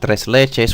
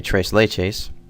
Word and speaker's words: tres leches: that i mean i suppose you can not use a latin accent to say trace lay chase but um you know